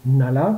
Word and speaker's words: Ngale: Polly et Kathleen Engel, Pauline et Kathleen Nalla, comme on prononce là-bas, possèdent un style très